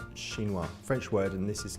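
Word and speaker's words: chinois: a Cambro container and this this is a shinoa so that's spelled c h i n o i s shinoa French word and this is like the most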